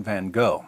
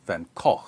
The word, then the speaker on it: Van Gogh: sanity of Dutch painter Vincent van Gogh, or Van Gogh, or Van Gogh, or Van Gogh, depending on where you're from and how far you want to deviate from the authentic American pronunciation.